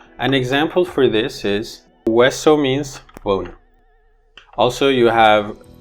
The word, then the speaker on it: hueso: An example for this is hueso means bone. Also you have huevo, which means egg. In these words, this HU combination stands for the sound W.